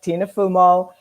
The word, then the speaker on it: Tina Fumo: So my guest is Tina Fumo. Did I pronounce it right? Yes, you did. Yep. Good. Tina Fumo.